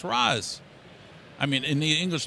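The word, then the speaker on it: Ra's: being affected you know I want to call him re because I think that's sophisticated no r a apostrophe s if somebody's going to spell his name and it's re wouldn't he spell it R A C that's how we would spell it he wouldn't have it go out there and say r a apost yes obviously that's Raz I mean in the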